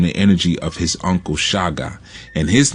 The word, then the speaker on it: Shaka: who I'm talking about many refer to him as Shaka Zulu but his name was actually pronounced Shaga Shaga Zulu all right and Shaga